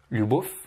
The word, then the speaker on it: любовь: Il faut bien mouiller le son feu à la fin en faisant любовь. Je vais te comparer. Любовь, donc c'est ce qu'il ne faut pas prononcer, et ce qu'il faut prononcer, любовь.